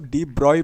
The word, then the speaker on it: de Broglie: मतलब डीब्रग इज़ डी ब्रोगली है ना तो इसको आप डी ब्रॉय प्रोनाउंसिएट करोगे। ठीक है? डीब्रॉय डी ब्रॉय।